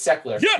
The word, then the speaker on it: Sechler: person in the world it's actually saying it right on the first try it's secular if you were an